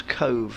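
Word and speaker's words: Cobh: the place that was pronounced nothing like it looks pronounce Cove looks like cob H but yeah and um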